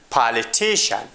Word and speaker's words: politician: If a word ends with CIAN, CION, and TION, then the stress comes on the second to last syllable of the word. Means, before the last syllable, we put stress on the word.